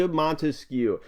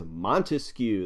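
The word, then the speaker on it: Montesquieu: come on from France three syllables in his last name three words yeah you know it Baron D monu and this was developed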